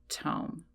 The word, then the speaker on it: tome: Well, it's just pronounced tome. So, I do apologize for